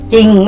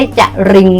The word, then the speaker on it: จริง: เสียง 4 ระยะ นะ ก็ คือ สร้อย ไม่ ใช่ สร่อย เศร้า ไม่ ใช่ สาระ เล่า เนาะ จริง ไม่ ใช่ จะ ลิง นะ ลูก นะ อ่ะ